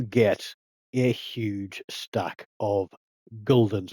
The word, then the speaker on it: gulden: a huge stack of guldens. I'm just going to pronounce it guldens, and sorry to the Dutch people out there, but I'll get a very sore throat if I keep saying gulden.